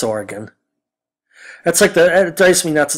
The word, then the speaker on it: Oregon: OSU in Oregon, as Bud Selig would call it. It's Oregon.